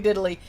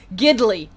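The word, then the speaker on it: Gidley: news thing okay Hogan diddly yeah apparently that's his name giddily giddily gid l ey giddily but it does sound like diddly if you're not saying it correctly so yep there is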